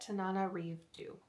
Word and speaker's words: Tananarive Due: Thank you to Kindle for having like how you pronounce her name there, and I'm sure she did that herself, but Tananarive Due.